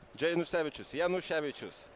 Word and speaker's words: Janusevicius: Janusevicius.